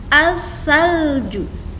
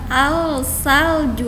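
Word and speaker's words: الثلج: Jika masuk ke dalam sebuah kata, maka di sini dibacanya as-salju. Bukan al-salju lagi, tapi lamnya hilang.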